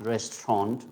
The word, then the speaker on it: restaurant: to be dropped out so it becomes restaurant it is going to become only two sounds restaurant by the way and